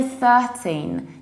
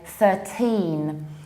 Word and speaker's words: thirteen: your teeth - safer but secondly you need to put this stress on the second syllable you don't say 13 you say 13 13 and every single time when you have anything of teen you need to stress the ending team so it won't